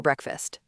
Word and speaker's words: breakfast: We don't say break and fast separately. It's one smooth word.